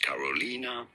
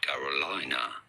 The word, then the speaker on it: Carolina: Her name is to be pronounced Carolina, not Carolina.